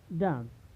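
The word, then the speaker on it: dumb: पहले आया है तो यहाँ पर बी का उच्चारण नहीं होगा, यानी इसे क्या पढ़ा जाएगा? कॉम, थॉम, डेट, डाउट, लैम, डम।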